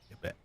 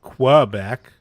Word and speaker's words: Quebec: There's no W sound. I didn't say there was a W sound. I'm not saying Quebec. I'm saying Quebec.